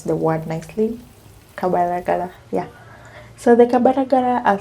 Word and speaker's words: Kabalagala: I really hope I learn how to pronounce the word nicely. Kabalagala, yeah.